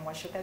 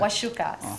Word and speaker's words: Wacuka: Wacuka, CUKA. Don't put an H, don't put an S. It's CUKA. So Wacuka.